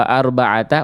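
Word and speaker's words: أربعة: Wa arbaata as enggak ada wunya Bunda? Waata wa arbaata wa enggak ada wau langsung arbaata saja.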